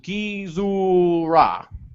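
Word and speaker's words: Gezora: August says Gizora is pronounced Gizora.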